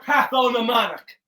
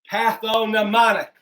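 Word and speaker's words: pathognomonic: o n i c with the silent g patho mnemonic the patho mnemonic feature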